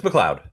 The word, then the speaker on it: McLeod: It's McLeod, like from the clan McLeod.